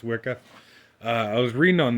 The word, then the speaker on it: WIKA: of these gauges here are Wicca or w-i-k-a I'm assuming it's supposed to be pronounced Wicca uh I was reading